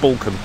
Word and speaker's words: Balcombe: The Balcombe or Balcombe? People get very upset if you mispronounce their town's or village's name. I'm saying it's Balcombe.